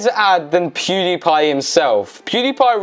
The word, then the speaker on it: PewDiePie: add than pewdiepie himself pewdiepie rhymes with ksi and cry and pie so technically is the